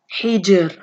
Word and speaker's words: hijr: If the letter before it is second and has a sukoon like right here, the Jim, and then the letter before that has kasra, like the ha right here, then you make the ra light. So it's hijr, hijr.